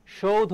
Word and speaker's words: সৌধ: সৌধ এর উচ্চারণটা কি সৌধ মনে রাখবা একটু আগে আমি বলেছিলাম দুইটি যৌগিক বর্ণ বা দ্বিস্বর আছে একটা হচ্ছে ওই আরেকটা হচ্ছে কি বলতো ঔ এই দুইটা এটাকে ভাঙলে আমরা পাই ও আর কি পাই রসই